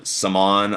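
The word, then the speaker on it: Samhan: with their big guy Omar samon I think it's a silent h I believe but aside from that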